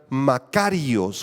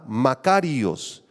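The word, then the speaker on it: μακάριος: La palabra bienaventurado, si quieres escribirla, es la palabra griega makarios, con acento en la A, makarios, y describe una felicidad, un gozo, una bendición, una satisfacción completa para aquellos que amamos al Señor.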